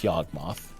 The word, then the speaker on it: Yawgmoth: Until they realize it's literally pronounced Yawgmoth.